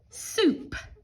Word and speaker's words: soup: of our spelling words soup spoop so that o u is making the ooh sound in this word ooh I spoon thick